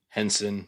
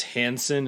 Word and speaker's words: Henson: jim henson's wife jane henson was also involved and i know i'm pretty sure i often mispronounce this name as hanson instead of henson i've probably done it